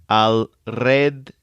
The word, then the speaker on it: alrededor: This is a long word with 4 syllables, but to help pronounce it, think of a red door, maybe one that swings around in circles. The word is pronounced alrededor. Alrededor.